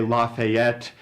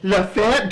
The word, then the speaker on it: Lafayette: town I would say Lafayette and apparently it's pronounced uh two syllables always with a question mark at the end we don't live in latte yet we live in Lafayette so already uncomfortable and